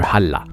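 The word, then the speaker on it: hallå: y vont avec un allah mais ne pas confondre avec le dieu islamique parce que ça se prononce pas du tout de la même façon ça ressemble beaucoup plus à la salutation hawaïenne aloha enfin en norvège on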